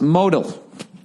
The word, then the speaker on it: Modal: Note, modal is pronounced modal. I don't understand why every week. Why they won't fucking show me where the accent is. They put in quotes, all lowercase, MOH-DAL.